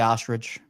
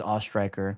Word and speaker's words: Oestreicher: And my last name is pronounced Oestreicher. Some people just give up and stay ostrich, but it is Oestreicher. Like you're an aw, then you throw a strike, like in bowling, and then ER.